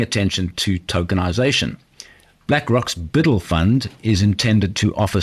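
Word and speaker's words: BUIDL: tokenization space with this fund called Biddle that's spelled Bui DL using the ethereum blockchain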